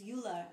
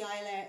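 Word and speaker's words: Iolaire: ships so a ship called her majesty's yacht ayalaire um it's actually the the the proper pronunciation is euler which means eagle but it was it was known as the ilia it was brought into service um to take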